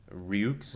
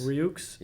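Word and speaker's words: Rioux: Ryuks. Ryuks.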